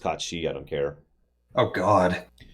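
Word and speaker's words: Cait Sith: How the hell are you going to play as Kate Sith? Yes, I know it's pronounced Kachi.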